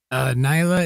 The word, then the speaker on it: Nyla: Nyla is how to pronounce it, and it's not Schultz.